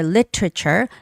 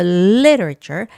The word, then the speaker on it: literature: Okay, so there are two ways to read this word. It's either literature. Literature making the hard t sound. It's literature. Lit I has the stress. So literature. Literature. Literature. Or literature. Making the soft T sound more like an L. Literature. Literature.